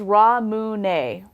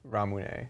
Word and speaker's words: Ramune: It's Ramune. Ramune.